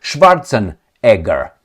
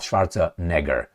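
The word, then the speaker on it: Schwarzenegger: I mean we should go to to Arnold Schwartzen Edgar. That's how you pronounce it. Not Schwartza Negger.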